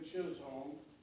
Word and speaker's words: Chisholm: is your name sir my name is william chisholm spelled the last name c-h-i-s-h-o-l-m what is the